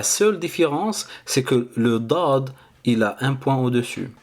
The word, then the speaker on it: ض: cette vidéo la lettre D d donc la prononciation elle est importante de cette lettre là donc écoutez après moi c'est d dad après au niveau de sa forme donc elle